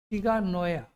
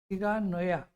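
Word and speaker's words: 志賀直哉: इसके जो लेखक हैं ये शिगा नोया, NSHIGA, शिगा NAOUYA, शिगा नोया, ऐसे इसका उच्चारण कर.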